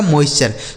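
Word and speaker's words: moisture: मॉइस्चर। तो हमने आपको क्या बताया कि टी यू आर ई अगर किसी भी शब्द में लिखा रहता है तो उसे आपको चर पढ़ना है।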